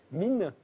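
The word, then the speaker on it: Minne: On va en voir une illustration, c'est la déesse Mine, c'est comme ça qu'on prononce.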